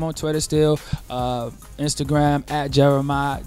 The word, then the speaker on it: Jeremih: my name is Jeremiah I thought of a way I can let people know exactly how to say it and it's really it's really easy and it's just one two three I just came up with that okay it's is Jeremiah so all my fans